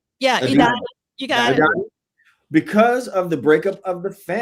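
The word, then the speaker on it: Edina: the Washington Avenue warehouse in, how do you pronounce that? Adina? Yeah, Adina.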